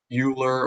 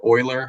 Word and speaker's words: Euler: e is from a mathematician named Euler or Euler some people call it spelled e UL e R so this problem would